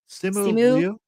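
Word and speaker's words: Simu Liu: Simu Leu.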